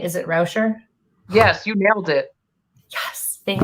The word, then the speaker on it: Rauscher: Is it Rauscher?